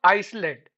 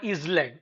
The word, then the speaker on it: island: We do not pronounce the word s. It is not Iceland or is land. It's island.